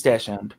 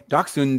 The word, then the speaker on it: dachshund: my mom says it it's stocks hun it's dash end both pronounced is the american way dachshund is the german vegetarian and ingrid made